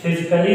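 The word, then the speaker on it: physically: फिजिकली देखिए, ठीक है, PHIYGA इसमें भी ये साइलेंट है।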